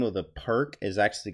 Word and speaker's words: Pirc: So if you're new out there and you don't know that it's actually the Pirc, it's actually called the Pirc, but it's spelled Pirc. Perk, guys.